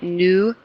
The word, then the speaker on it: nueve: Again, each syllable or each vowel, right? Nueve.